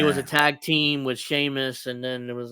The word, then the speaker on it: Sheamus: cornette calls him uh seus seus yeah I'm pretty sure sh he's just enunciating he's just pronouncing it yeah see as it's spelled but it's not said that way in Ireland yeah so giant Battle